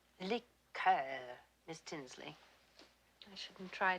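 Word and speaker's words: liqueur: don't care for liquor when referring to a cordal we use the French pronunciation lior Miss Tinsley I shouldn't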